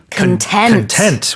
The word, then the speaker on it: content: C as an adjective to be content which is in a state of happiness and pronciation on the second.